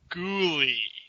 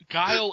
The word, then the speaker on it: Guile: ] pronounce his name guile is a word is it yeah you didn't know so angel I mean what does that have to do with anything well that's how you know how to pronounce it it's a word dude we sound like